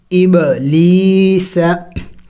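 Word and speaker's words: إبليس: है, सीन ज़बा सा इब ली सा। वक़फ़ जब करेंगे तो वक़फ़ में हमने इस सीन को साइलेंट करना होगा, यानी साकिन करना होगा। इबलीस इबलीस, सीन की आवाज़ आखिर में निकलनी चाहिए।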